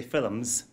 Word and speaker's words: film: And one of the films of the, in Ireland we say films, film is a two-syllable word.